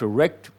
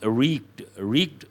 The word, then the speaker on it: wreaked: Wreck is different, wreak is different. The spelling is different, so is the pronunciation. Here it is not wrecked, it is wreaked havoc.